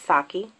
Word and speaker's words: Sake: Next, we're going to go with this pretty champagne color here, which is called Sake. That's Saki.